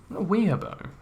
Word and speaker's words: weeaboo: Weeaboo. It's actually weeaboo. It's got 2 O's in it.